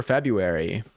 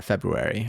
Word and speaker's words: February: Do you actively pronounce this R?